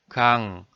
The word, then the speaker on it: 강: in the syllable 강, you know 기역 is sounded 그, 아 is sounded 아, 이응 is sounded 응. Then, if you pronounce it with the feeling at once, it's like 그아응, 그아응, 그아응, 그아응, 강. Finally, the sound 강 is completed.